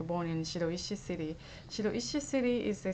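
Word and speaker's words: 白石: And also when I give them kanji in Shiroishi city, everybody calls Shiraishi. It's like a different pronunciation.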